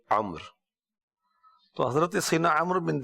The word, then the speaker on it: عمرو: تو درست جو ہے وہ یہی ہے جس انداز میں یہ لکھا ہوا آپ دیکھ بھی رہے ہیں، اور اس کا تلفظ عمر.